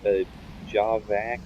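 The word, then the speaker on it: javac: command that you used to compile things is a job back it's pronounced read spelled j AV AC and it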